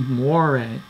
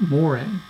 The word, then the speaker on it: moiré: pronounced the word wrong it should be moire not moire also not sure if